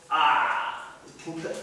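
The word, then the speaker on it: अ: that a is up this first up is pronounced ah fullness of everything and that fullness of everything that we considered up until now through all these other rules actually in essence that a is actually pronounced at the back of the throat up in a point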